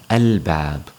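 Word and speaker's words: الباب: Ba is also a moon letter. So when you see the word alif lam ba alif ba, you would pronounce that al-bab.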